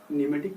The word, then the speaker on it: pneuma: देखिए, न्यूमेटिक की जहाँ तक बात आती है, न्यूमेटिक एक ग्रीक वर्ड न्यूमे से आया है, न्यूमा, ठीक है, PNEUMA, न्यूमा। ये मत पूछिएगा इसमें पी मतलब साइलेंट क्यों है, ये आप ग्रामर में कंप्लीट करिएगा।